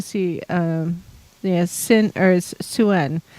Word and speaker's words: Sin: um yeah sin or suen spelled s i n but pronounced suen suen as a Sumerian